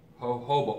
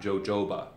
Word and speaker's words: jojoba: see that you have hoba oil it's that that J is pronounced with an H sound so you would call it hoba not jojoba hoba prashi and you'll